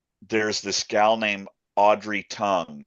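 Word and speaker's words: Tang: Um there's this gal named Audrey Tong. It's spelled T A N G.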